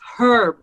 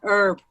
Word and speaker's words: Herb: for mispronouncing your name is herb not herb it's a hard age herb is what you put in your salad okay herb i have